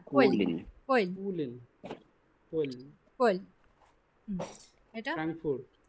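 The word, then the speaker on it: Köln: এ আর একসাথে আছে না, এ এবং আর একসাথে থাকলে আ উচ্চারণ হয়, বার্লিন। এটা গ্যানফ। গেন। এটা কোইলেন। কোয়েলেন না, কোয়েল কুলিন।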